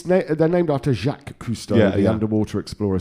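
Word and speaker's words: Cousteau: It's It's They're named after Jacqu Kustoau, the underwater explorer.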